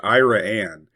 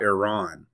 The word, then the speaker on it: Iran: First, Iran, not Iran.